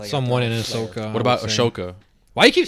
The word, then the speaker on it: Ahsoka: you don't pronounce it Ahsoka because it's HS not sh HS so it's Asoka no you keep saying you're saying a shoka it's aoka oh